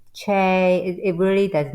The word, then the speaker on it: Chae: is fine but really the spelling pronounces it CH so it's it's Chay be all in all not necessarily Shay although you're okay with that but it's ch I am okay with